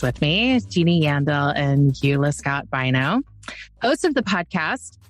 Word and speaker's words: Eula: And yes, Eula does rhyme with doula.